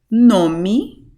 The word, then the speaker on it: nome: 'Nome', this e right here at the end has an even more closed sound, 'nome.'